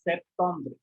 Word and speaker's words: septembre: Then this is called September is spoken as Septembre. Septembre is the pronunciation.